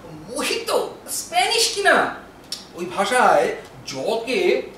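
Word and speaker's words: mojito: কথাবার্তা বলছে ওটা মজি তো নয় মোটেও ওর উচ্চারণ মহিত স্প্যানিশ কিনা ওই ভাষায় জকে হ উচ্চারণ করা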